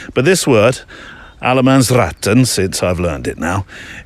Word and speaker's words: allemansrätten: But allemansratten, I think you have to, it's a r, and then 10 sort of fires out the end of the word. But this word, Allemansrätten, since I've learned it now.